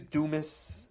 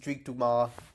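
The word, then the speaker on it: Dumas: Sadrius Dumis, that's not how you say his name. It's Duma.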